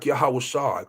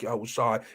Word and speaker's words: Yahawashi: lashawan kadash we say we say hamashiach yahawashi call yahwah bahasham hamashiach yahawashi and that's how we pronounce it brother okay so do